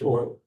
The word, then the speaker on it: Euler: That's not like oil can, that's like EULER, German pronounced oil.